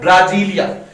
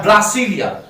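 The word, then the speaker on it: Brasília: Brazil की बात आती है तो ब्राजील की राजधानी है ब्राजीलिया या ब्रासीलिया। देखो प्रोनाउंसिएशन है, हमारे यहां पर प्रोनाउंसिएशन के कारण कुछ गलतियां होती है, तो दोनों ही नाम आपको ध्यान रखने।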